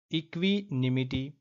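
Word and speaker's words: equanimity: त्यानंतर इक्वनिमिटी असं दिलय म्हणजे आपण जर स्पेलिंग चुकली तरी त्याचा उच्चार पण आपला चुकणारच आहे बरोबर आहे ना सो स्पेलिंग नुसार जर बघितलं तर राईट आन्सर आहे इक्वॅनिमिटी राईट काय आहे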